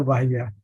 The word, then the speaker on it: Bahia: you pronounce? University Estado da Bahia.